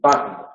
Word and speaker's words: Wagner: Luego, la W tiene dos pronunciaciones, en las palabras de origen alemán como una B y en las palabras de origen inglés como el dígrafo gu. Entonces tenemos Washington y Wagner.